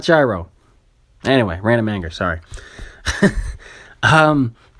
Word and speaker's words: gyro: had a lamb gyro it's not gyro stop pronouncing it that way I go to friggin greek places and I say gyro and they look at me weird you know knowing that is damn it it's hero not gyro anyway random anger